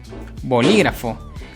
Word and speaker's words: bolígrafo: ser una palabra esdrújula siguiente bolígrafo separó en sílabas voz lee kraft bolígrafo pues la palabra fue la sílaba que tiene